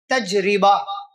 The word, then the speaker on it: تجربہ: تجربہ، یعنی یا کچھ لوگ تجربہ، یا کچھ لوگ تجربہ۔ صحیح تلفظ کیا ہے؟ تجربہ، را پر زیر۔ دراصل یہ عربی زبان